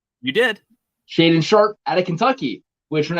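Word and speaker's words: Shaedon Sharpe: sharp did i say it right you did shade and sharp out of kentucky which when i went and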